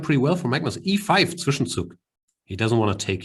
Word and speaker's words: Zwischenzug: As German is my first language, and Zwischenzug is a German word. I choose to pronounce it correctly.